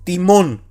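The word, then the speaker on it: τιμῶν: Por eso la palabra es timón. Y entonamos y acentuamos la sílaba mon, ¿ya?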